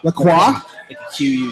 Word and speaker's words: Lacroix: in goals like crazy I'm gonna try to pronounce the last name right is it is it laqua close laa laqua laqua y okay so it's just